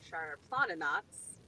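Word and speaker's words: Šarplaninac: pronounce this uh so i have sharp lana knots char plotted knots uh which is spelled sarplana neck which is not how you say it but it's easier to spell if you say it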